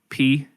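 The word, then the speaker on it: phở: and then secondly in San Diego, PHO. Pronounced pho.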